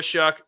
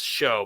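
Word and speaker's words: Shough: That's how how it's spelled. I know it's show, but it's it's Shuck.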